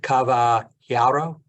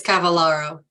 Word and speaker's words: Cavallaro: Is it Caballero? The double L being a Y in Spanish? If I'm visiting Miami, Judge, but it's Cavallaro, close.